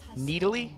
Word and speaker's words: Nidalee: And it was okay, look, we want to pronounce the champion Nidalee.